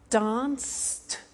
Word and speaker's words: danced: Watched, danced, eliminate the E, pronounce the T.